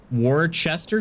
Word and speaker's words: Worcestershire: gosh uh let's see the brits just call it warchester sauce they don't pronounce the whole thing worcestershire shire yeah worchestershire and it's definitely shire not sheer sauce all right uh i